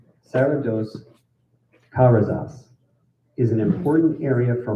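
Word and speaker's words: Serra dos Carajás: Serra dos Caras. Sorry, let me pronounce that correctly. Serra dos Carasas is an important area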